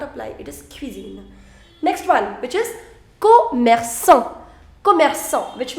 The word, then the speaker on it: cuisine: see you the pronunciation the pronunciation is q q that i already told you in the first slide cuisine now will you